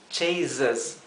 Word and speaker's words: chases: Traten de pronunciar esto eh con la s o las dos S como eh una Sumbada Z. No es la Sve, es una Sumbada Z. Por lo tanto, es chases.